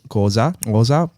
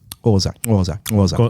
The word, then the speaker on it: Xhosa: Now it comes its traditions come from the Xhosa and Zulu. No. It's more of a smack. It's suck the top of your mouth. Xhosa.